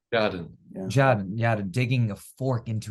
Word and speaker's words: Tjaden: as, I don't know if I have to pronounce his name, but Tjaden, Tjaden. How do you pronounce his name? Tjaden.